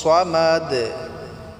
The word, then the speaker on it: সামাদ: কুলহু আল্লাহু আহাদ আল্লাহুস সামাদ আল্লাহুস সামাদ এখানে সোয়াদ উচ্চারণ করবেন সোদটিকে একটু মোটা করে উচ্চারণ করবেন আল্লাহুস সামাদ বলবেন না